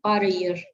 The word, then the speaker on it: par ailleurs: On ne prononce pas L, donc c'est par ailleurs.